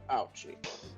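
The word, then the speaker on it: Auchi: Prosecutor Ouchie. Yes, literally, that's how it's supposed to be pronounced.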